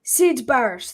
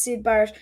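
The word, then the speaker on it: Syd Barrett: him he's amazing um seid bars that's it I thought it was Sid bars but I didn't want to say it in case it was wrong Sid bars I would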